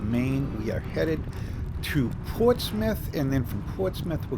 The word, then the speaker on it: Portsmouth: This is a Portsmouth, and actually some people pronounce it differently, but everybody up here calls it Portsmouth.